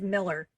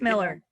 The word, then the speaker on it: Millar: okay little the burning question is the correct pronunciation is Miller okay it's Miller okay and your name twinning I know except